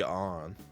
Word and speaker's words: Ann: from Japan if she's German it could be on or like European but regardless they're definitely pronouncing it on just so it rhymes with